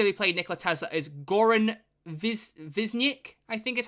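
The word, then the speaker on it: Goran Višnjić: The actor who played Nikola Tesla is Goran Visnik, I think is how you pronounce it.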